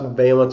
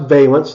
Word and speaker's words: valence: Before we move on into the rest of the trends, we need to discuss valence electrons. So this is pronounced valence, not valence.